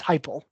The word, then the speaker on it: Heupel: Josh Heupel, I do know you say that way. That's Heupel is how you pronounce that.